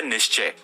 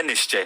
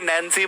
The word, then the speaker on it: निश्चय: पहले तो लोगों को निश्चय ही नहीं बोलना आता, उसमें भी आपने स्पेलिंग में छेड़खानी कर दी। अब लोग भाई कोई नैन्सी बोल रहा है, मेरे कॉलेज का प्रोफेसर मेरे को नैन्सी रीड करता था, निश्चय से नैन्सी।